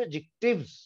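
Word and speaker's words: adjective: जितने भी अंग्रेजी के लफ्ज ए डी जे से शुरू होते हैं उसमें डी जो है वो म्यूट हुआ करता है, वो कभी भी नहीं बोला जाता।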